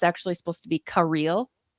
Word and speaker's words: Kirill: fact you know it's actually supposed to be Kil not Caril no no Kil I learned that today is